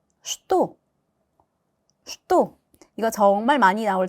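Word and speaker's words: что: 째 슈또 슈또 이거 정말 많이 나올 단어인데요. 자 여기 앞에 있는 최발음이 최로 나지 않고 sh 발음이 나요.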